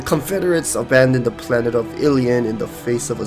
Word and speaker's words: Ilian: military command 8 human now pronounce it as alien cuz it reminds me of Illidan from Warcraft 3 the Zerg have begun